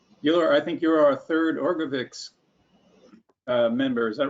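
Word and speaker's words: Orgovyx: I just got my first shipment of Orgovix today, but I don't start taking it for a couple of weeks. Oh, great. Okay. I think you're our third Orgovix member.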